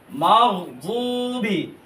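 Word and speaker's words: مغضوب: নামটা নড়াচড়া করা এরকম যাতে না হয় গাইরিল মাগদুবিদ একটা মাগদুব দুবি দাল পরবেন না অর্থ মানে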